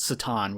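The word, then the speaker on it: C'tan: What's the other way people pronounce it? Catan or Satan? Yeah, I've heard some people pronounce it Satan, which sounds kind of dumb, but whatever. I'll probably just end up saying Catan.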